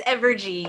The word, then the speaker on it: Evergy: Is it Evergy? It's Evergy. Yes, you got Okay. it. I'm getting it now.